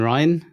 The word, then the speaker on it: Rein: First name, abbreviation, last name it's pronounced Ryan, but I let people get away with rain cuz then it's it's like brain.